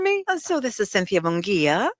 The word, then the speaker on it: Munguia: So this is Cynthia Munguia. Munguia.